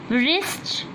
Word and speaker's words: wrist: Wrist. W is silent letter.